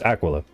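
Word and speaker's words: Aquila Favonia: Apparently, it's Aquila.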